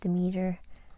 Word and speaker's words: Demeter: you have virgo the virgin and you have demeter is how you say it as the goddess